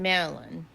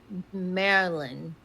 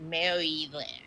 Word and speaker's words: Maryland: I was like, "No, but I just want you to know we don't say Mary Lynn."